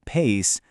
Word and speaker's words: pais: Pais, pronounced pais, means parents.